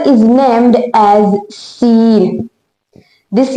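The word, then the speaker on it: س: So this letter is named as seen. This letter is named as seen. What is the sound of scene? Basically it has a whistling light sound just like this.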